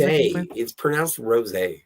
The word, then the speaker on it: rosé: I've had sweet rose wine before and that's pronounced rosé.